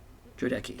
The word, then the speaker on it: Jodeci: Buck, Arlo, Jodeci? Jodeci? Jodeki. I was going to say, we've decided on a pronunciation.